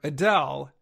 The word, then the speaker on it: Adele: famous person the singer Adele recently said her fans have been saying her name incorrectly for many years she said her name should sound like a Dale of course many fans